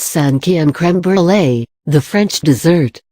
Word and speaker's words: cinquième: Examples: mère, meaning mother, is pronounced mère cinquième, meaning fifth, is pronounced cinquième.